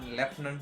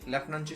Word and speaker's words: Lieutenant: लेफ्टनंट, तर ती जी लेफ्टनंट आहे त्याचं प्रोनाऊन्सिएशन मराठीमध्ये लेफ्टनंट, पण जेव्हा लेफ्टनंट म्हटल्याच्या नंतर लगेच आपण इमॅजिन करतो की याची स्पेलिंग LEFT पासून सुरू होईल किंवा LEFT असेल किंवा LEFT पासून सुरू होईल, पण तसं नाहीये.